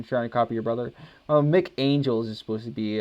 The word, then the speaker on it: Mick: It's pronounced Mick, M-I-C-K.